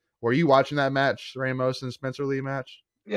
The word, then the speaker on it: Ramos: So they wrestled, obviously it's an interconference match, and they wrestled in conference, and Ramos, had like, Ramos. He actually pronounces it Ramos.